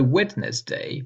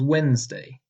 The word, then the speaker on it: Wednesday: So Wednesday becomes Wednesday, but English keeps the old spelling.